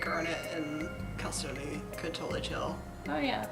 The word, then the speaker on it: Chalcedony: Chalcedony. She can like they can like bond and you know share their. It's spelled with a CH, but it's that Greek CH, so it's like a K.